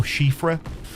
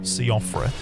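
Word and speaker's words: Siofra: Yeah, but I believe it's pronounced Chauffra or Shiffra. I got corrected once and it's always been in the back of my mind that it's not Seafra.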